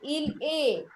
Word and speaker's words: il est: Il est, not s.